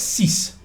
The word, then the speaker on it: sies: exclamation of disgust basically it's actually s-i-e-s but thanks please that's cease hey if you were to say it and of course but if you're saying english i spell it sies even if i'm in